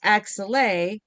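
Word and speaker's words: axillae: And when you change when you add an e at the end of axilla, it's pronounced axel and it means more than one armpit.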